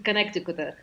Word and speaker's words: Connecticut: There is a famous book by Mark Twain, Yankee is Connecticut, or Yankee from Connecticut. And, Connecticut doesn't sound anything like Connecticut.